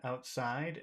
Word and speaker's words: outside: in the middle but what about outside which which syllable we get all of the Power here's one outside out outside actually you know it's normally the first one but in this case